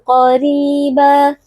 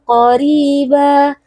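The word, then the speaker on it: قريبا: Jadi tidak kita baca adzaban qariba, tapi dibaca dengan tebal. Adzaban qariba. Qori, qaf, huruf tebal, angkat pangkal lidahnya. Kemudian ri di sini kita membacanya dengan tipis karena ra berharokat kasrah yang merupakan kasrah asli.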